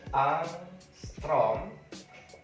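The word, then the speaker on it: ångström: tahu Berapa nilai Armstrong satu Armstrong dibacanya arthron yaitu 10 pangkat min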